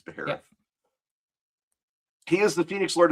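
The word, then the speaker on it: Baharroth: That's how I pronounce his name is Beerth.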